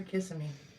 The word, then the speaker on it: Kissimmee: Is it Kissimmee or Kissimmee? I think it's Kissimmee. I think it's what the locals say.